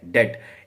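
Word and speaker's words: debt: कर्ज को हम इंग्लिश में कहते हैं डेप्ट। इसकी स्पेलिंग तो डी ई बी टी होती है। कुछ इसको ना लोग डेप्ट पढ़ते हैं। तो ये बी साइलेंट होता है। तो आपको इसको डेप्ट पढ़ना है।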